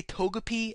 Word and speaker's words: Togepi: for saying toak kiss I'm sorry I say Togepi and then I say totic and toak kiss I pronounced the first one right it's good enough